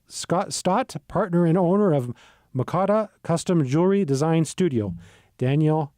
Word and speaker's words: Mokada: Mokada, is that yes, is that Mokada. how you pronounced it perfectly.